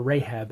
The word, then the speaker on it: Rahab: Well, these 2 men decide to go to the house of a woman named Rahab, or Rahab as many people pronounce it today.